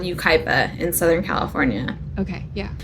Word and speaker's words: Yucaipa: It's called Yucaipa in Southern California. Okay, yeah. So if you look at it on paper, it looks like yucca pie.